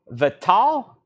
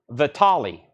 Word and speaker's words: Vitale: press 9.99 9.99 and Joe vittal Vitale it could go either way roller coaster weekend that